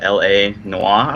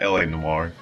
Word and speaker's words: L.A. Noire: foreign here we go so how do you pronounce this game's name but there's dot so it's a LA Noir oh yeah LA Noire Noir take on the classic uh Noir film